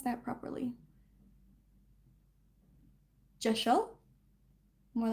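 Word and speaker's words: deosil: pronounced it as um Dazzle. But she has the pronunciation J E. So it's spelled D E O S I L. But it's pronounced like J E H S H E L.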